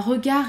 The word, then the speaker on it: regard: Un regard étrange. Regard étrange. Regard étrange. Encore une fois, on ne prononce pas le D, il est toujours muet.